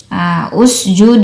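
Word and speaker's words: اسجد: Oh, berarti hamzah wasalnya dibaca U, bukan dibaca I atau A ya.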